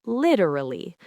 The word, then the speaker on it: literally: In American English, when a t sound is between two vowel sounds, we often soften it. It's not a hard t sound anymore, right? It becomes a sound that's very close to a quick d sound. Precisely. So in literally, the t is between the i sound and the sound. So instead of a crisp literally, it softens and flows into literally.